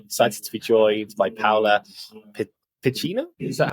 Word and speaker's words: Paola Piccinno: today today I'm excited to be joined by paa Pino is that how you pronounce your name amazing sorry the the Italian